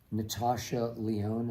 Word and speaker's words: Natasha Lyonne: All right, this is James from Buffalo, who says the actress, Natasha Lyonne, is that how you pronounce it?